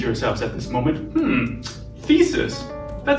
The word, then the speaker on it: The2is: new and super exciting thesis competition now thesis that's how you pronounce it eh it looks like the two is and in fact the